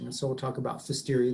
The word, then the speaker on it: Pfiesteria: And so we'll talk about Pfiesteria. The P is silent, kind of like pneumonia, Pfiesteria, it's just Pfiesteria, okay?